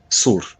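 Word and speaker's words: صور: Is that how you pronounce it? Tyre? Sur.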